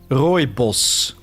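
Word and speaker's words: Rooibos: Royos. That's how you would pronounce it. It's Dutch.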